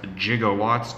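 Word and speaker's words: jigowatts: fun Easter egg um I refer to them as jigawatts g-i-g-o-w-a-t-t-s so with the Jailer j-i-g-o that's not how you spell it's actually gigawatts but in the script it was jiggle Watts it's not really a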